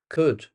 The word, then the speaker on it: could: The next one, could. Now, don't forget this word has a silent L in it. Could. We don't say the L.